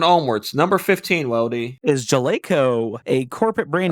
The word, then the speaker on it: Jaleco: So Jaleco, is this spelled Gelaco? It is Jaleco.